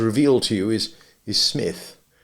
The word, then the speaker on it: Psmith: to you is is smith the p is silent and until very recently